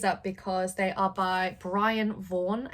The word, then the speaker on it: Brian Vaughan: So I picked these up because they are by Brian Vaughan, I think is how you say his name.